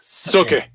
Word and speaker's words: Sookie: yeah right nick says you have to pronounce Sookie like the vampire bill does Sookie Spang it's okay Let Me